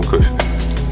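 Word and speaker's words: Коффи: Тебя зовут Джон Кофи? Да, сэр, босс. Как напиток, только пишется по-другому.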